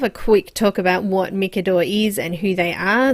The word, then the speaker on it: Micador: the markers, and it was that it's actually pronounced Micador and not Micador, so it was something that they pointedly told me, so I do assume that they get lots of people calling it Micador instead of Micador, so I just wanted to mention that here